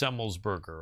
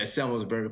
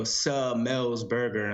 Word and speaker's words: Semmelsberger: And it's pronounced Semmelsberger, right? Yeah, Semmelsberger. People get caught up on they go Semmelsberger, and then it sounds weird. So you just say it fast.